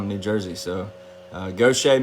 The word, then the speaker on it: Gautier: new jersey so uh gautier mississippi i know how to pronounce that uh it's not gaudier like everybody else tries to butcher it uh yeah my eye